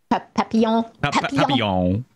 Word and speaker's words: Papillon: Papillon. That's how you pronounce it.